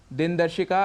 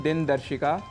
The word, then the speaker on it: दिनदर्शिका: है आकाशवाणी दिन दर्शिका दिनदर्शिका अर्थात कैलेंडर जिसका उच्चारण हम करते हैं दिन दर्शिका इसका शुद्ध उच्चारण है दिनदर्शिका और गणपति महोत्सव जो